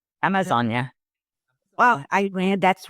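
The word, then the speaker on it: Amazônia: Amazonia. Well, I read that's right in English that you can call Amazon. In Portuguese, the Amazonia, it has an accent on the O, like no, like a little accent.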